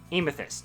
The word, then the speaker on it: Aimathyst: How do you say it? Aimathyst. Aimathyst. Yes, that's how you say her name.